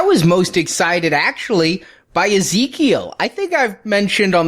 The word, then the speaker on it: Ezekiel: Ezekiel. There's an I, it's just not pronounced, it's not a hard I. Yeah, not a hard I sound. It's an E sound. Yeah, that threw me. Ezekiel.